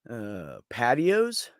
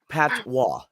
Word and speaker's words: patois: as he needed the money hey patios what's patios oh Dean yeah but that's that's how it's pronounced Patois Patois yeah Patwa okay yeah that's his patios I'm an American